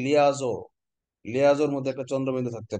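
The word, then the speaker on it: liaison: লেইসন মানে উচ্চারণটা হবে লিয়াইসন, আসল উচ্চারণ হচ্ছে লিয়াজো, লিয়াজোর মধ্যে একটা চন্দ্রবিন্দু থাকতে পারে।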